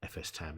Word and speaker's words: fstab: I always called it FS tab. I've always called it etc FS tab. I've heard people call it fstab, which, okay.